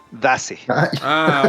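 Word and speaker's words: Daze: Dace.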